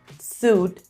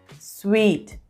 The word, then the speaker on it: suite: hotel it's hotel and it's not suit it's sweet hotel sweet when talking about